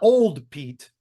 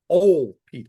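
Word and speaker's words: Ol' Pete: Pete oh okay not old Pete old Pete o l apostrophy Pete and everybody told me don't Don't pronounce the d don't pronounce the d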